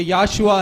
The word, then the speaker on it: Yahshua: मैंने कहा ये ओ जो है वो साइलेंट है। சைலண்டா இருந்தா वो साइलेंट है तो இப்போ இத வாசிக்க பார்க்கலாம். अब इसे आप पढ़कर बताइए। யாஷுவா ये याशुआ है।